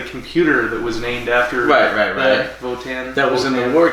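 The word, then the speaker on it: Wotan: German god named Wan it's pronoun it it's pronounced votan but spelled Wan because it's German and he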